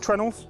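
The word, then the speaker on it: treenail: This ship is held together with trenels um which is spelled tree nail. Uh and that is because it is literally a tree nail.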